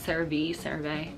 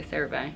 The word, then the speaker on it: CeraVe: I know people pronounce it CeraVe, I say CeraVe.